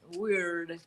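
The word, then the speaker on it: wyrd: Is that how you say it, Diana? What? Well, yeah, it's weird. But a little whales accent. Weird. They're weird. Yeah. Yeah. W Y R D I think it is.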